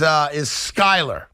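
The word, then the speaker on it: Skylar: And I should mention that the quarterback's name in Miami, it was mistakenly said earlier today on this radio station, is Skyler.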